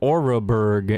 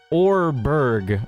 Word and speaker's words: Oreburg: Dude, I've been pronouncing it wrong my whole life. I've been calling it Oreburg. It's Orberg. Oh my gosh, that's actually so crazy how I got that wrong.